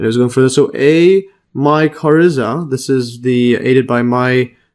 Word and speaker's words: mycorrhiza: So a mycorrhiza, this is the aided by let's just see the pronunciation.